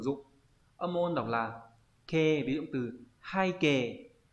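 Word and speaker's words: 啓: Âm môn đọc là kê, ví dụ từ hai kê là bái khải, là kính gửi, kính thư này.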